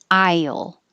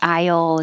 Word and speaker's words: aisle: And 10, aisle. And it could be the aisle in the grocery store or it could be aisle. I spelled it the regular I to remind you that it's I.